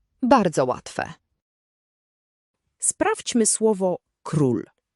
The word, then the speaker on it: król: Zapamiętaj, u zawsze czyta się jak u. Nigdy nie czytamy tego jako o. O, jak u. Bardzo łatwe. Sprawdźmy słowo król. Król.